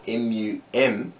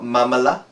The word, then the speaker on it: Mumala: Now this word I know, it's spelled M-U-M-A-L-A. It's not mamala. Mumala.